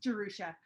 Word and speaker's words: Jarusha: Yeah, my name's a little tricky to pronounce. It's Jarusha.